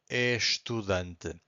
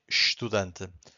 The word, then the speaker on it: estudante: So here we just say estudante. Why this happens here? Because every time we have an S before a consonant, we get the sh sound.